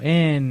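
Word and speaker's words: ἐν: pequeña preposición in o en en griego se pronuncia en pero esta es una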